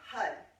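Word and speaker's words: har: And H-A-R, it's spelled H-A-R. It sounds more like H-U-D because you roll the R, and when you roll the R, the tongue is going to hit the roof of the mouth and activate.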